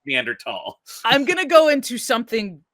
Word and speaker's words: Neanderthal: the B are found in but it is pronounced Meander tall I'm gonna go into something a little controversial